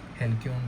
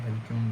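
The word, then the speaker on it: halcyon: हेलकन days बोलता हूं मैं तो इसको। ठीक है? हेलक्यन डेज। ठीक है?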